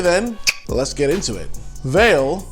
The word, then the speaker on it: Vale: let's get into it veil pronounced vale in brazil is a brazilian multinational